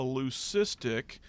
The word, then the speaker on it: leucistic: of plumage and it's what we call a leucistic I'll spell that word le you see ist I see